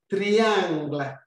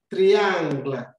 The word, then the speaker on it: triangle: uh spelling in french so triangle in french will be the same spelling a different pronunciation in french we say triangle triangle so the letter first